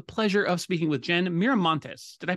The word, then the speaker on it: Miramontes: I have the pleasure of speaking with Jen miramontes did I pronounce that right miramontes yes you did perfectly excellent thank you Jen